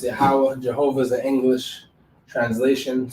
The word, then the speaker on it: Yahweh: Jehovah is what they say is the English translation of Yahweh. All right, it's pronounced Yahweh.